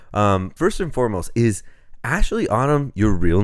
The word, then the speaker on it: Aisley: holding up um so my first name is is spelled a i s l e y but it's pronounced Ashley most people you'd think